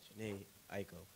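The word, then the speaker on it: Jhené Aiko: Like, I really started to get into Jeannie Aiko. How you say her name? Janae Aiko.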